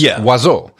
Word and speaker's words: oiseau: It's oiseau. It's spelled O-I-S-E-A-U, and none of the letters are pronounced the way they're spelled.